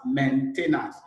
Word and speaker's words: maintenance: the world maintain maintain you will be hearing it mental not men so people pronounce it as maintenance man is M en is a maintenance it is the art